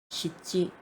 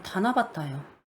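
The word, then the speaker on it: 七夕: 이제 칠석 같은 거 이제 이거는 찌라고 있거든요. 시지찌 이거는 새끼라고 있는데 지찌 새끼가 아니에요. 이건 다나바타예요. 다나바타라고 읽어 가지고 이것도 훈독으로 읽거든요.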